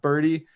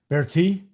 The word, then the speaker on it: Berti: targeting dickerson and uh birdie birdie's not how you pronounce his name how do you pronounce i know that for sure how do you pronounce his name bear tea bear tea oh i was closer